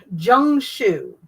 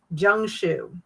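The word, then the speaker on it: jiangshi: It's called uh Jang Jang Jung Shu. Jung Shu, even though it's not spelled that way.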